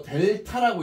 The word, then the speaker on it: 델타: 이거 델타라고 읽어.